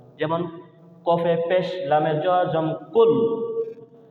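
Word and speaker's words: قل: রাহিম কহু আল্লাহু আহাদ আমরা বলি কুল কাপ দিয়ে এখানে আসল কুল না এখানে আসছে কফ কুল কুল কল দেখন কল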